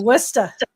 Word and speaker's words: Worcester: I love You Laura have to say Worcester. Worcester. I know. It's my Chicago accent was like Worcester. You're not saying it right. I'm like, she'll say no, Worcester. And I was like, okay, I got it.